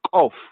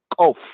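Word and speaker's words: Koph: This letter properly pronounced is Kof, Kof, Kof, is Kof. Some of them, the Muslims and the Arab speakers, they say Gof, Gof, Gof, Gof.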